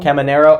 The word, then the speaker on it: Caminero: How do you pronounce his name? Caminero.